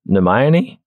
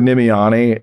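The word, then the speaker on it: Nimiane: I've heard Nemione. Nemion is like the one. For me, the best thing about Harry Potter was I could just say, no, it's like Hermione. It just rhymes with Hermione.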